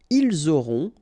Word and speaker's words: ils auront: liaison here, vous aurez, ils auront, final T not pronounced, elles auront.